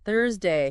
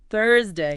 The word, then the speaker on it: Thursday: And lastly from the past class Thursday. Thursday. Remember the the sound. Tongue gently touching the top teeth. D. Then like turn. Thursday.